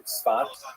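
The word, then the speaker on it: צפת: And that is the incredible explosion of spiritual, literary, religious activity that occurred in the northern Israel city of Safed, pronounced in Hebrew Tzfat or Tzfat.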